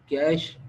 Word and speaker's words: cache: लोग इसको कैची भी पढ़ लेते हैं, कैशे भी पढ़ लेते हैं, लेकिन आपने क्या प्रोनाउंस करना है, कैश, CASH, कैश मेमोरी।